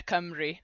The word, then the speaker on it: Cymru: But yeah, Dodgeball Camry, which uh is phonetic in the Welsh language, but I can see how it's probably confusing having a U pronounced as an I, but yeah, Camry is how we'd pronounce it.